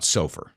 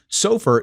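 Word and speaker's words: SOFR: So now let's talk about sofur. And if you grew up on Long Island like me, this might be a little confusing because that's how we pronounce this.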